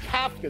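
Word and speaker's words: Kafka: Coming up is Mike Cafka. That's how it's pronounced. It's not cap.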